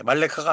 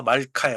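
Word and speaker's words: מלכה: 말카. 예, 말레카가 아니에요. 말카 말카. 그래서 음절, 첫 번째 음절에 자음으로 끝나기 때문에 발음하지 않습니다. 쉐화는 그래서 말카가 되는 거예요.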